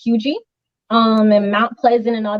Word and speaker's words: Huger: If you look on a map, it looks like it's spelled Huger or Huger, but it's actually pronounced Huger.